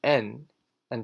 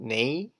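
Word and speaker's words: 나: pronounced before the vowel the first consonant is pronounced roughly the same as the alphabet n so what we should do is put together the consonant N and the vowel ah the important thing is that you must resist the urge to change the pronunciation of the vowel remember the vowel cell never changes so adding N - uh what sound like da not nay or nay or nay it's always na and the last consonant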